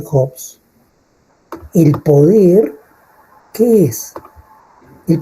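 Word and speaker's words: Hobbes: En el caso de Jobs, ¿no? Así se pronuncia, Jobs.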